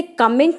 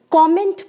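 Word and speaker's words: comment: है कि सही है जी नहीं इसे कमेंट नहीं कॉमेंट्स बोला जाता है रिपीट के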